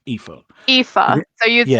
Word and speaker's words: Aoife: It's like Eva but with an F, Aoife. Aoife. So you'd Yeah. spell it like E-S. Yeah. Yeah, Aoife. Yeah. Yeah. Double E-F-A. Yeah, it's fine. I keep saying Effa, but yeah, Aoife.